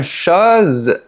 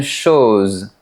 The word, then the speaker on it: chose: Même chose avec ce mot. À Paris, on dit une chose, mais à Toulouse, on dit une chose.